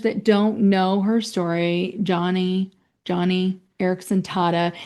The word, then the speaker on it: Joni: For your listeners that don't know her story, Johnny Erickson Tata, it's spelled Joni, so people think it's Joni, but it's Joni, yeah.